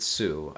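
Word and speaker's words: Hsu: all at once or is it sue uh Stephanie Sue it could be a silent h again once I hear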